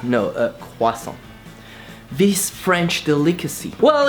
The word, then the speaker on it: croissant: You know this word that you always want to pronounce and pronounce wrongly. A croissant. No, a croissant.